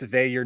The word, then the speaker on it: Veilleux: Yeah, it's Veilleux, not Veilleux. And I think even like James Franklin was calling him Veilleux last year.